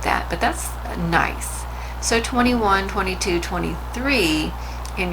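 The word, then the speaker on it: gneiss: very nice rock but that is pronounced nice and you can see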